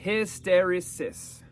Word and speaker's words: hysteresis: run up against the phenomena phenomenon of hysteresis pronounced hysteresis technically the term describes the tendency of materials